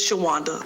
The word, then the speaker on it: Shawanda: My first name is Shawanda. Let me spell it.